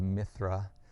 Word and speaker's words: Mithra: old is myth RISM the worship of Mithras or Mithra which is actually the more appropriate pronunciation of the name as far as the Persian God goes dates definitely couple